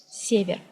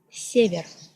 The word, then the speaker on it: север: It is pronounced like in English word center. For example, Russian word север, север.